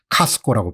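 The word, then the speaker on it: Costco: 같은 데를 좋아하지 않습니까 그 사람들은 카스코라고 발음하지 우리는 코스트코 창고형 매장이죠 오늘 주가가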